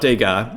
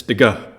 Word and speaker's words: Degas: It's not Degas, it's Degas, the pronunciation.